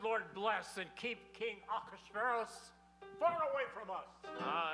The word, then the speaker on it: Ahasuerus: And now we transition to the palace of King Ahasuerus.